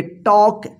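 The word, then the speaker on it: talk: आप से बोलना कि के से पहले एल है एल जो है ना यहां पे साइलेंट है और इसका उच्चारण नहीं होगा रूल्स यहां पे देख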